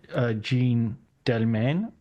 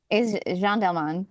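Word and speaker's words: Jeanne Dielman: When it came to Chantal's Jean Delmain, is that a correct pronunciation? Is Jean Delman.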